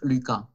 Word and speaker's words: Lucas: Decimos Lucas. Lucas, Nicolás, Tomás, ¿ok? Esa S de esos nombres de personas no, no se pronuncia.